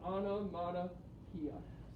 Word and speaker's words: onomatopoeia: to pronounce the word so ana mata pia so that's how you would say it yes london and so